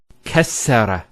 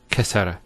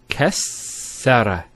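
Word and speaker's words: كسّر: Kassara instead of kasara. So once again, there's the kaf, followed by 2 scenes, and then the ra. So kas, skune, sara. Kassara, not kasara.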